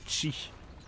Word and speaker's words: Xi: Ça s'écrit XI et ça se dit Chi.